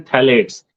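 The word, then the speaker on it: phthalates: होता क्या है, बिस्फेनॉल ए, जिसको BSA शॉर्ट फॉर्म में बोलते हैं, एंड थैलेट्स, इसमें पी साइलेंट है, PTHALATES, थैलेट्स।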